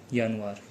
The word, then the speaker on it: Januar: तो सबसे पहले आता है हमारा यानुआर।